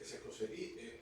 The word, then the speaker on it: Escocería: Escoceria es escocería, perdón.